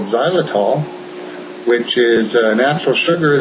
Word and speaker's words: xylitol: It's spelled with an X. Xylitol.